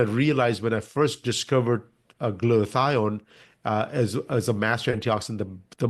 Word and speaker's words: glutathione: You can pronounce it better than me. I got the glutathione.